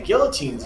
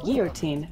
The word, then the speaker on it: guillotine: fact you're actually pronouncing guillotine not guillotine well oh my god it is a it is a french word it's like pico de